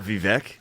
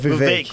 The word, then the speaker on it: Vivek: It's not Vivek. What? Vivek, like cake. Vivek? Rhymes with cake.